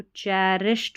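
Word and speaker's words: cherished: रक्षा रक्षा बंधन, बंधन इज अ, सी एच को च पढ़ते हैं तो सी एच ई जो है ना इसको ची नहीं पढ़ना है, चै पढ़ेंगे, चै री, आर आई को री, फिर एस एच को श, चैरिश हो गया, फिर ई डी लग गया है ना, तो चैरिश्ड हो गया, चैरिश्ड, चैरिश्ड, इसको चीरिश्ड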